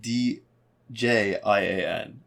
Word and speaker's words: Zildjian: yeah z i l z-i-l-d-j-i-a-n yeah um and they say haha two years ago damn zildjian would be how it's pronounced but definitely one of